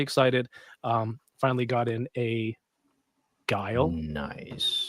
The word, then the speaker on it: Guile: Finally got in a Guile. Nice. I think that's how you pronounce his name. How do you say this, DK? I say Guile. Okay. Or good. Yeah. No. It's Guile. It's Guile.